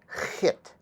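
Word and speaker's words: ḥꜣt: So this is pronounced hit, or at. The H is like a hiss, so at.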